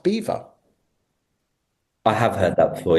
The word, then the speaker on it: Belvoir: know if you're aware, it's pronounced Beaver.